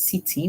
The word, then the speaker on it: city: this word is city whenever C comes before I, E, or Y. In English, most times, it's going to make a sound like S. So hence we hear the sound at the beginning. The Y makes a sound like E at the end. So Y acts like a vowel at the end, so we hear E.